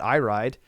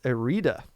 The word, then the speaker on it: Irida: It's not Iride, it's Irida, actually.